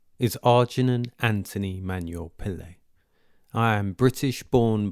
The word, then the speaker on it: Arji: Growing up in England meant using the name Arji, pronounceable, slick, simple, a name I coined with a helpful rhyme, Arji, like Arji Barji.